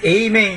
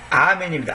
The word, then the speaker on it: 아멘: 그 진실로 헬라어로 아멘입니다 미국 사람들은 이제 이걸 영권 에이맨 이러잖아요 에이은 틀린 바람입니다 에이이 아닙니다 아멘입니다 아 아라고 해야 됩니다 이런 경우는 아멘이 정확하게